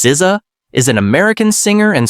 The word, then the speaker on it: SZA: SA pronounced Siza is an American singer and songwriter known for her unique blend of R&B, neo soul, hip hop and alternative styles.